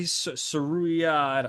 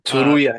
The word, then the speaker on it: Tsuruya: This Ray Saruya, I'm gonna have to look up how to pronounce that last name. Uh, Tsuruya, yeah.